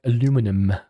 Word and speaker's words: aluminum: From where I'm from, aluminium. From America, and that aluminum.